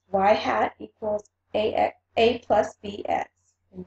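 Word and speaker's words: y-hat: an explanatory variable changes in that form it's y hat equals a plus BX and where a is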